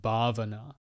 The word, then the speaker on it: bhavana: about on this show is the idea of bhavana this is another poly word it's spelled b-h-a-v-a-n-a bhavana and it means cultivation so